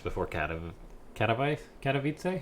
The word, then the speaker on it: Katowice: it'll be announced before Khadem can of wife Katowice how do you pronounce that Katowice so I've been pronouncing it